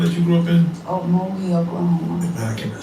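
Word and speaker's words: Okmulgee: For those that don't know, man, how do you pronounce the town that you grew up in? Mogi, Oklahoma.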